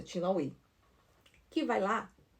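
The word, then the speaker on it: LaHaye: O nosso querido amigo escritor Tim Lawake, não, Tim. Como é que se pronuncia o nome dele? Tin tin lai. É isso, é lai.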